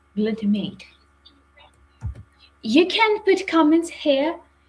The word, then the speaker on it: glutamate: Glutamate or glutamat, because in Ukraine we pronounce the term as glutamat. I hope that in English this term is pronounced like glutamate.